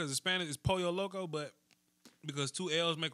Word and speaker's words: Pollo Loco: Raising Cane's stop it I know how it's pronounced Hispanic is Pollo Loco but because two L's make Hawaiian Spanish for